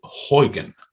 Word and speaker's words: Huygens: i was told by the dutch that it's pronounced huygen huygen huygens principle so huygen was in my